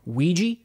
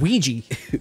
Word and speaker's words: Ouija: are putting that out they're also putting out Ouija say it like that because that's what it's called Ouija Ouija then you have the steelbook lastly from